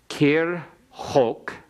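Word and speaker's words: כרחק: Kir hok, it's got a silent schwa under the resh. Kir hok mizrach mimma'erav.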